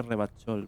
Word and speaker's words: Revachol: Revachol, se pronuncia Revachol, bonito.